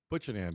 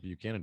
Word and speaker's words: Buchanan: it i was like this can't be because there's no cannon in there right but then i i said it out loud oh butch and doesn't make sense but buchanan does because if i've heard